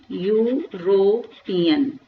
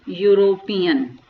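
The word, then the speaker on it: European: अब देखिए ये यहाँ पे स्टार्ट किससे हो रहा है, आपका स्टार्ट तो ये ई से हो रहा है, लेकिन जब मैं इसका प्रोनाउंसिएशन करूंगी तो ई इसमें क्या होगा, मेरा साइलेंट हो जाएगा. तो मैं इसको क्या पढ़ूंगी, यूरोपियन. ये देखिए यूरोपियन पढ़ा मैंने इसको.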